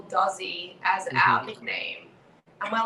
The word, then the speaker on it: DOZZI: of us will call dozy as our nickname and we're like why are we not using our entire last name as our band name and then dozy it rhymes with aussie oi so yeah